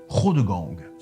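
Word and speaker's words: Chrodegang: du roi charles martel s'appelle cros de gang et ça s'écrit cherreau de gang il deviendra évêque de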